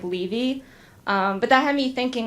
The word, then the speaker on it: Levy: name as me, except he pronounces our last name like Levy, and I pronounce it like Levy.